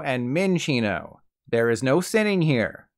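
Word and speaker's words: Minccino: they're sinchino stencino and mencino okay maybe it's not that many incorrect pronunciations but since these are based on Chinchillas you want to call them chinchino and minchino there is no sinning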